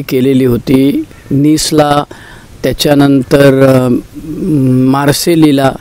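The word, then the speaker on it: Marseille: केलेली होती निसला त्याच्यानंतर मार्सेलीला ते मार्से म्हणतात त्याच पूर्ण स्पेलिंग मार्सेली असं आहे त्यामुळे तिकडे मीटिंग केलेली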